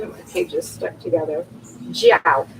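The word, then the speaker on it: zhao: my pages stuck together jiao it's spelled z-h-a-o and as far as i can tell from listening it's like jio bring the feet together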